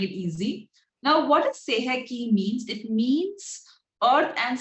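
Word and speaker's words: Sei He Ki: So it is pronounced as Seheki.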